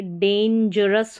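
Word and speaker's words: dangerous: फिर देखिए डेंजरस हो गया। डेंजरस। ठीक है? जी का उच्चारण है।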